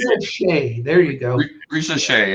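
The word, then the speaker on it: Risacher: looking at with Dyson Daniels, the rookie Frenchman, Risa Shea, I think that's how you say it. Risa Shea, there you go.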